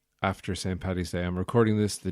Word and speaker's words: Paddy's: I hope you all had a good St. Paddy's Day, or as it's known in America, St. Patty's Day, which is wrong.